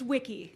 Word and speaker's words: Wiki: Yeah, it's Wiki.